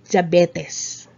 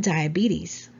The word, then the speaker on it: diabetes: so it's diabetes or diabetes okay it's not diabetes let's say it again diabetes all right great number 14 it's funny how